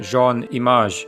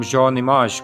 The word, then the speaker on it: Jean Image: the Hungarian Imre Hajdu, better known by the stage name Jean Image, this last name based on the French pronunciation of image sounding like the first syllables of his name.